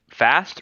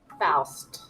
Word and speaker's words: Faust: Is it Fast or Faust? Faust. Faust.